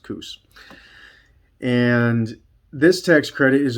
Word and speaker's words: Coos: And if I did not say that right, I am sorry, but to me it's pronounced Coos.